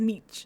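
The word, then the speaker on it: mici: It's written as Mei and they say a lot of them say Meei but Jeff but Jeff but Phil Phil pronounces it as Meech.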